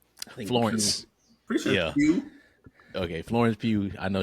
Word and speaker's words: Pugh: actors and everything, it's kind of like Florence Pugh. I don't know how to say her last name. Florence. Pretty sure yeah. Pugh.